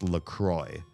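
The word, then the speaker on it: La Croix: write on the can, they say it's pronounced LCROY, but they spell it like the French words La Cra, the cross.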